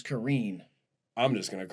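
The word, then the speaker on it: Korine: I found out recently that that's how you say it. I ain't saying like that. Yeah, it's not Harmony Karen. It's Karine.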